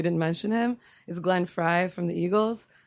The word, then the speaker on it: Frey: mention him is Glenn Fry from the Eagles not everyone in here is a big Eagles fan I think it's Frey and yeah it's fry it's fry it's spelled Frey but it's fry oh yeah well I